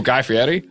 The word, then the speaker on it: Guy Fieri: Ooh, Guy Fieri? Wow, you pronounced it so perfectly. That's beautiful. Guy That's Fieri. a true Italian pronunciation.